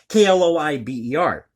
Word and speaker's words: Kloiber: I believe that's how you pronounce the last name. It's Kloiber.